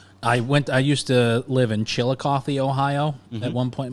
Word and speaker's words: Chillicothe: I used to live in Chillicothe, Ohio at one point in my life. And that's how you pronounce it? I've seen the spelling. It's it ends with a THE, right? Yeah. Chillicothe.